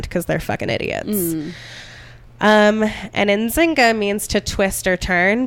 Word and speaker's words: Nzinga: And I saw different pronunciations. One was Jinga, but that just makes me think of Jenga. Yeah. And most of what I saw was Nzinga.